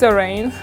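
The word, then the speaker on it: Zhereing: My business name is Zerain. It's spelled Z-H-E and then R-E-I-N-G, meaning a kingdom.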